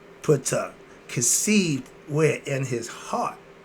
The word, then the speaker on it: Ptah: termed physical reality, and the concept of consciousness. We're dealing with the conscious of Ptah, or more better known as T. The P is silent.